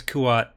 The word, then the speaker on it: Kuat: Kuat, Coruscant, Corita, all the hard C sounds. I guess Kuat, hard K.